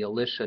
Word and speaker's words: Elisha: and the prophet Elisha I sometimes pronoun that pronounce that Elisha just to make it distinctive you will not actually read any of the Alisha narratives I will probably